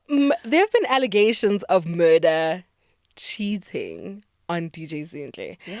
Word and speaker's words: Mörda: R D A but the pronunciation is still murder.